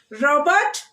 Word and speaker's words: robot: Here with the two syllables, noun, stress the first syllable. Parents. Robot, butler, object.